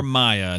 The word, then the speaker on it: Mia: That's for listening from to the Mia show. or Maya. It's MIA. I know it can be pronounced either way.